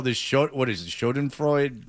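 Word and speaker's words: Schadenfreude: Shodden Freud. Shoden Freud. Shod and Freud. Thank you. I can never pronounce it about him.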